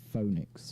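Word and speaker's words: Fønix: It's Phoenix, F-O with like a line through it, N-I-X. It's pronounced Phoenix though, but like, yeah, it's fine.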